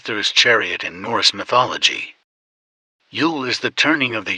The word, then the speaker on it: Jul: Yule, from the Anglo-Saxon Jule, though nowadays it is more commonly known as Christmastide or the 12 Days of Christmas. However, in Scandinavia they still call it Jule, pronounced Yule or Jul.